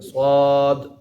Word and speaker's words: صاد: صاد ہی پڑھنا ہے، اس پر مد ہے تو اس کو تھوڑا لمبا کر کے پڑھنا ہے، صاد۔ اور اسی طرح نون،